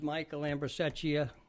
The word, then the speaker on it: Michael Ambrosecchia: Can't pronounce the name. I'm not going to try it. My name is Michael Ambrosecchia, known as Ambro.